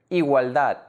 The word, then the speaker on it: igualdad: Like in the word mamuts, made up of two syllables, ma and muts. The last syllable, muts, is the stressed syllable.